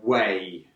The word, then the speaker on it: weigh: Yeah, it's to weigh. To weigh. Good. We don't pronounce the GH.